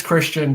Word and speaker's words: Kristan: i saying it right is it christian yes it is christian just spelled weirdly because my mom wanted me to have trouble in high school so you know the usual stuff thanks mom it's spelled with a k oh it's interesting yeah